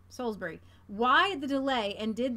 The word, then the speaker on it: Salisbury: ill ribeyes I says it's pronounced Solsbury Salisbury thank you thank you Solsbury why the delay and